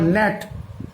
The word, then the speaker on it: gnat: আবার ন্যাট, GNAT, ন্যাট, ন্যাট মানে হচ্ছে ডাঁশ, মাছি, এখানে কিন্তু জি এর উচ্চারণ হচ্ছে না।